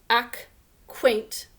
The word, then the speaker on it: acquaint: We don't really say that k sound, but it comes from k, s. And the reason we don't say it is because there's that qua that has a k sound again in the second syllable.